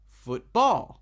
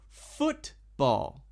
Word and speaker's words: football: Usually, if it is a 2-syllable noun, the first syllable of the word will be emphasized or stressed or stronger. Not football, but football. Football. The first part is stronger than the second part.